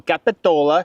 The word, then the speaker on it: Capitola: Cuz it's spelled capital with the A, so I just think Capitola, but I want to say it right, like the locals. So, Capitola.